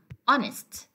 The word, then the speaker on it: honest: Now, it is said that the H at the beginning of these words are not pronounced. So we don't say hour, we say hour, hour, and we say honest. Okay, so the H in these words is supposed to be silent.